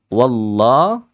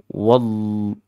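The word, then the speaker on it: والله: biasa ya wallah ya Wa bertemu lafzun jalalah lafaz Allah maka dihukumi lam yang taglid lam yang tebal dan adik-adik bacanya dengan cara yang memenuhi rongga aljauf rongga-rongga mulut ini terasa sangat penuh ya penuh rasanya wallahu wallah wall wall Ah gitu kan bukan Wal wallah wallah gu ya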